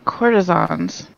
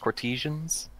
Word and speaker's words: courtesans: And courtesans. Croissants. Courtesans. Courtesans. Fancy old prostitutes. Yeah. Also called, sometimes pronounced courtesians. And they says courtesians of carnal, I think?